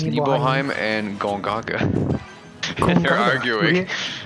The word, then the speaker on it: Nibelheim: Hey, how do you think Cloud pronounced his hometown, huh? I kind of missed it. He calls it Nibelheim. Yeah, it's Nibelheim and Gongaga.